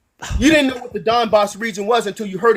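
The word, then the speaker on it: Donbas: you didn't even know what the and it's pronounced Don boss not Dan Bas you didn't know what the Don boss region was until you heard it in a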